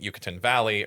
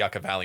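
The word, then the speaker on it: Yucca Valley: other spore which is I pronounced it Yucatan Valley earlier. It's actually the Yucka Valley.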